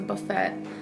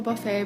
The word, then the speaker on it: buffet: Ryan's which is a buffet I know it's called a buffet but I pronounce my teas like in Gourmet I used to love